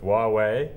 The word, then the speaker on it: Huawei: The other thing I noticed from recent results is that they've struck up quite a close working relationship with Huawei. I think that's how you pronounce the name of that Chinese company.